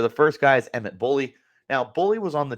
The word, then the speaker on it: Bohle: First of all, even though his name's not spelled Bully, it's spelled Bohle. And I was informed by his family it's Bohle.